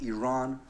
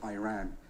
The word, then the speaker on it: Iran: our country's name wrong our country is named Iran not Iran please once and for